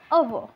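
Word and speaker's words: hour: Okay, if the first letter begin with vowel sound, when we से इफ for example अवर, तो here H इज़ a consonant but sound is a vowel sound, इसलिए हम लिखेंगे an article. Okay, इस तरह से articles हम पुट करते हैं.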